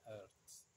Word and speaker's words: hertz: kita ganti detiknya jadi hertz tulisnya haset dibacanya herz seperti gu guys sangatlah sederhana